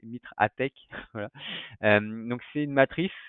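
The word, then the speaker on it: MITRE ATT&CK: Donc le Mitre Attack, alors je ne sais jamais le prononcer, c'est Mitre Attack, voilà.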